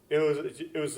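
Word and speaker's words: は: You have to write ha. Yeah, instead of wa. Even though you pronounce wa, you write ha.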